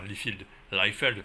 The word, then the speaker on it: Liefeld: à quel point Rob Liefeld a été influencé par tout ça. Enfin, Liefeld, si vous préférez la prononciation américaine, bien entendu.